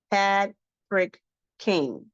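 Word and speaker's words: Pad Prik Khing: Pad Frick King.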